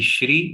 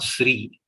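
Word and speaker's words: श्री: always we are reciting it should be shri it is not sri s h are actually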